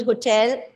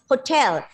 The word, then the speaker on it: hotel: of the are positive see both of you are pronouncing the word hotel in the wrong way it's hotel give the stress on the second syllable and do it with the plosive it is hotel hotel